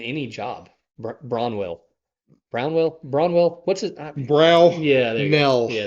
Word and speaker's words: Brownell: And man, I think you said Brownwell. If I'm Brownell. Yeah, Brownell.